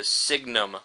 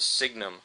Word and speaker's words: signum: the sign function si we call it the signnum function. So you should really pronounce this the signum function.